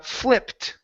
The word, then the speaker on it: flipped: next up is uh flipped okay give me a short I here so instead of saying fle flied it's I fli flipped he flipped he flipped